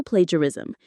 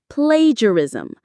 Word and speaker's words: plagiarism: it, that is also plagiarism. You are claiming authorship of something you did not create. Let's say the word together. Plagurism. Plagiarism. The stress is on the very first syllable.